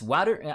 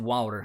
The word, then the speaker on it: Wouter: TIL, it's pronounced Wouter. I pronounce it Wouter.